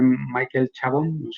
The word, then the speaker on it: Michael Chabon: par de novelas de michael chabon así se pronuncia así él el sindicato de